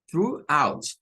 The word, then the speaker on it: throughout: TH hasta la GH, todo eso suena a through, through, through, así suena. Y luego la última suena a out, throughout, throughout. Solo tiene dos sílabas.